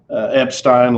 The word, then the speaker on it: Epstein: fits it's it's uh epstein like einstein he is that smart